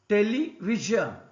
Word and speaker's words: television: Television. Here is also V is stressed.